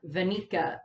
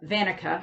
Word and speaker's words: Vanica: was attacked by uh veneka sorry uh vanica i always mispronounce that vanica of the dark